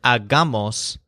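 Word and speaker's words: hagamos: with a silent h the longer word AG gamos has a stress on the middle syllable so that may take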